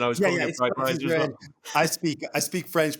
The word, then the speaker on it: Breitwieser: I was calling it Breitwieser as well. I speak French, but when I switch to English, everything gets all anglicized. It's like Budweiser beer and Breitwieser art thief.